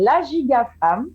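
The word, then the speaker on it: La Giga Fam: Et puis, si vous voulez continuer à me suivre, ça s'appelle La Giga Femme. Ça s'écrit LAGIGAFAM. Donc, de temps, on entend femme, c'est vrai, parce que c'est ciblé pour les femmes dans un premier temps, mais pas que.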